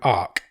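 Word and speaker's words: ARQ: He's picked a film called Ark. Okay. Which is spelled A-R-Q.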